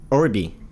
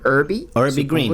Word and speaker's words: Urbie Green: Y se pronunciaría como, ¿cómo se pronunciaría? Orbi. Pues sí, Urbi Green.